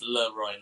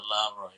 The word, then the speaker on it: LaRoy: It would be Leroy because it's masculine. Roy is king. Yeah, exactly. So, it's Leroy, not Leroy.